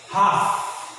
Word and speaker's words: half: Half. L is silent.